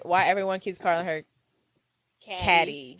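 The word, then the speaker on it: Cady: And I never understood why everyone keeps calling her Caddy. If you look how it's spelled, it's literally pronounced Caddy.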